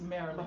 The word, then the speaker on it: Maryland: It's spelled Mary Land, but it's Marilyn.